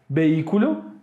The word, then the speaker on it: vehículo: For instance, vehículo, vehicle, prohibir, prohibit, helicóptero, helicopter. In these words in Spanish, H is silent.